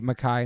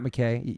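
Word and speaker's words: MacKaye: ever on this podcast to say MacKay, not McKay, because you know how to say it.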